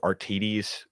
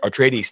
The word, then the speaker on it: Atreides: Artides, like Paul and his father. I don't know how to say their last name. You know what I'm talking about? Atreides, isn't it? Atreides. Thank you. Yes, Atreides. Yes, and stuff like that.